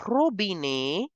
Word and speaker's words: robinet: It is ending with ET, so we have to pronounce the sound of A. Le robinet stands for the tap.